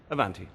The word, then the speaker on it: Avanti: german it's in and avanti as in avanti like the italian yeah as in laszlada